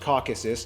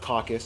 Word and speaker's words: Caucasus: By the way, it's pronounced Caucasus, not caucus.